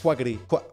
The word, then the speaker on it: Quackity: Quackity es como se dice, ¿no? Es como se pronuncia. Sí, bien. Sí, así se dice. Quackity.